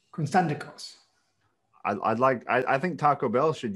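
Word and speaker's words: Konstantakos: Constantikos.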